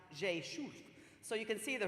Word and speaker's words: Rzeszów: It's R-Z-E-S-Z-O-W, but pronounced Rzeszów.